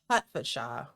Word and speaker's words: Hertfordshire: Hertfordshire. Hertfordshire. It's spelled H-E-R-T, but it's Correct.